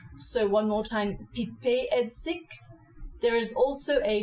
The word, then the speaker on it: Piper: Pipet is definitely not pronounced like the English word piper. You say Pipet as the French do. So one more time, Pipet Heidsieck.